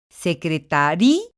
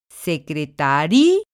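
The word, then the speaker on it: secretaría: del estado aquí necesariamente tengo que romper el diptongo porque la pronunciación así me lo marca secretaria es decir hago fuerte a la vocal débil que en este caso es sí y entonces estoy rompiendo el diptongo lo que implica que la ya pertenece a una sola sílaba ir a otra sílaba y entonces pronunció secretaria es el mismo caso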